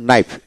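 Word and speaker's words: knife: এইভাবে যেমন নাইফ, কে এন আই এফ ই নাইফ মানে এন আই এফ ই নাইফ, নাইফ এভাবে উচ্চারিত হবে।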